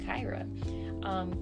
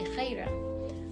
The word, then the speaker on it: Khairah: It's actually not pronounced Khairah. That is I call it the American way or the easy way to pronounce it, but it's actually Khairah.